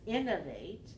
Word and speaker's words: innovate: move the stress so can you keep the stress on the first syllable because innovate is three one and you're going through you're changing to stress on the third syllable so if you have